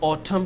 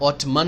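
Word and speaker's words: autumn: पत्ते गिरते हैं तो उसको ऑटम कहते हैं ऑटमन नहीं कहते एंड साइलेंट है कुछ कंट्रीज में दो मोस्ट मौस में होती हैं।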